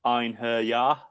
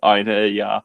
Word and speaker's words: Einherjar: Well, first of all, I pronounce it Last Einherjar. So, I break break break it down to three syllables and then the silent J. So, Einherjar.